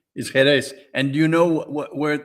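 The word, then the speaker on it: Jerez: Sicily uh amazing trip you can go to jerz cadis for Latin mass in Andalucia well did you know that's that about Robert that's pronounced heres j r e z is heres and do you know where what what that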